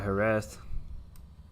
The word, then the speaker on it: Jerez: The Z is a T in Spanish, like, or something like A that.